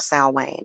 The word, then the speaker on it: Samhain: be so much fun of sal wayne or sam hayne i like to pronounce the samhain better hey lady eve good